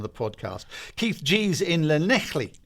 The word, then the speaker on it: Llanelli: Keith Gee is Llanelli. Have I pronounced that right? Matt Sims: You have.